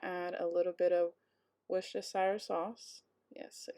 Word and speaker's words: Worcestershire: So 1 cup of that, and then I'm going to add a little bit of Worcestershire sauce.